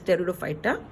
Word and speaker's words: pteridophyta: pteridophyta pteridophyta this word this word P is silent hence it's pronounced as pteridophyta pteridophyta tissues are present